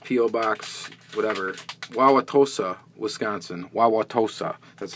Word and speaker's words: Wauwatosa: Wauwatosa, that's how you pronounce that.